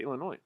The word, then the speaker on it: Illinois: what illinois huh illinois i don't pronounce that i said illinois talk about all the